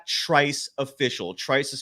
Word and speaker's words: Trice: much more by visiting trice's YouTube page it's Trice official Trice is spelled TR r i CE so here are